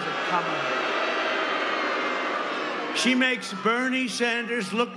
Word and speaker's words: Kamala: You have to pronounce it Kamala.